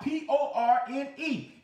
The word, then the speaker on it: porne: Now, There's another word that's porne, which is the same thing, or it's spelled out P-O-R-N-E, but it's pronounced porne.